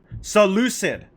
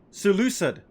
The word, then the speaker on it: Seleucid: Yeah, pronunciation, please. Seleucid. Seleucid.